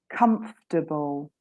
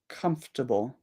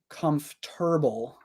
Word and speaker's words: comfortable: favorites comfortable comfortable okay I would usually say comfortable oh my goodness and a lot of people get really angry at me they're like no why would you say comfortable it should be comforable um but I I